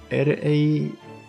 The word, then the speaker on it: Rani: R-A-N-I, Rani. So you are taking our acronym and sounding it out phonetically as a word for our name.